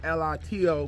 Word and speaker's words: Lito: L-I-T-O, but T is pronounced with a D. So, Lito.